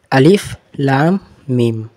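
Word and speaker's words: الم: তারপরে দেখো মিম, মিমের উপরে তাসদিদ আছে, তাসদিদকে দুবার উচ্চারণ হয়, আর উপরে কিন্তু মাদ আছে আর টান হবে।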